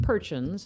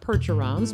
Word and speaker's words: Percheron: and the horses were I think he said perch UNS pronounced perch ins not Percherons but perches and there were